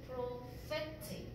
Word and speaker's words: prophetic: 그 다음 prophetic, 이 단어에 강세는 fe에 가고 이 ph가 발음 기호상 F의 발음이야. prophetic, 그치?